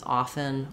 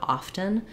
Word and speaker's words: often: way but um in in my um my lifetime and my history often the correct pronunciation used to be just without a t then it changed in the last 30 40 years to add that t sound to be a correct